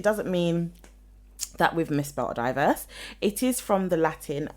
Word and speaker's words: divers: So I think it's divers. It's diverse. But it said you can pronounce it both ways. Yeah, but it's more pertaining to diverse, but it's not diverse. It's not spelt the same way as diverse. It's divers, so I can understand the confusion. But if you look at the pronunciation, it says historically could be pronounced as either die, D-Y-E, verse. Yes. Divers.